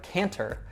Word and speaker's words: can't: Take the word canter, which is kind of a way that's between walking and running like a horse might do, and just drop that final syllable. So it's can't. And something to keep in mind with can't, not like can, it never reduces. You don't have that schwa sound there.